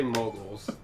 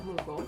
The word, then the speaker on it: Moogle: I say moguls. Which is wrong, because it's a Moogle.